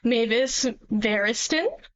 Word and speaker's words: Mavis Variston: This is my name and that's how you pronounce it. It's Mavis Barristen.